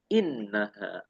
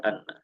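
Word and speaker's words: إنّ: Setelah fi'il qala itu harus kasrah, bunyinya inna, nggak boleh anna.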